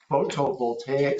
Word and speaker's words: photovoltaic: the streamlining of the application process for small-scale photovoltaic, someone pronounce that for me.